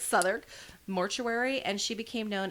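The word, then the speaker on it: Southwark: ever to work at um southern i believe that's how you say it uh it's like south wark but it's southern mortuary and she became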